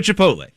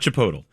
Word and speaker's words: Chipotle: They went to a Chipotle and she's behind Is that how you pronounce it, by the way? Yes. not chipotal.